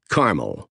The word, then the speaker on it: Carmel: town in Northeast Pennsylvania you pronounce it with the accent on car Carmel State Route 61 runs